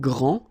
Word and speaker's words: grand: that this first form here for the masculine gr so you don't pronounce the final day will be exactly the